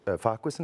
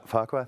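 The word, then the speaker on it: Farquhar: Uh an open letter to Scott Farqu Farquist. Is that how you say it? About FAQ, thank you.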